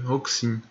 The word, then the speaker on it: Roxin: que eu esteja pronunciando aqui de forma incorreta se escreve R X é Rox e n Rox e n roxim e o o roxin diz que não se